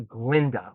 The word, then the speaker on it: Glinda: for the goat professor, changes her name to Glinda, which was the pronunciation that the goat professor had.